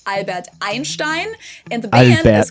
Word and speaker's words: Einstein: So EI ends on I and is therefore pronounced I.